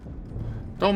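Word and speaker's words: Doux: I mean I'll have I don't have that's how it's pronounced normally that I'm foo but uh I'm assuming that you're meaning for it to be uh white fox.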